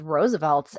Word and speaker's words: RSVLTS: So, next on the list is Roosevelt and it's spelled RSVLTS for our newer listeners.